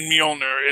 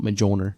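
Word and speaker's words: Mjölnir: sound the j in mjolnir it's it's got a y sound it's not technically silent you pronounce the j you just pronounce it as a y yeah it's an important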